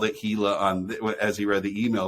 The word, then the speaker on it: Gila: And then and then the following week, Bates corrected it on the show and said, actually, everyone told me it's pronounced Gila. And so then when Nate called it Gila as he read the email this week, Bates was all over it.